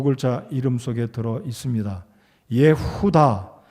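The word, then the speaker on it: יהודה: 이름 속에 들어 있습니다 예후다 히브리 발음으로는 예후다라고 제가 기억을 합니다 자이 유다는 예수님의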